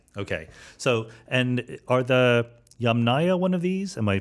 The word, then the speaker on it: Yamnaya: doing correct yeah okay so and are the yamnaya one of these am i pronouncing it correctly that's right that's a ghost